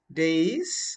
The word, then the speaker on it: dais: Days or days simply.